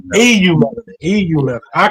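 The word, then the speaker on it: eumelanin: Sorry, I hate EU melanin. It's pronounced EU melanin.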